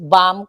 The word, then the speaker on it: bomb: You pronounce it bam, com, lam. Lahat 'yung 'yung suklay. You pronounce it com without B. Hindi comb. Bomb. Hindi you know, hindi bomb. Bomb.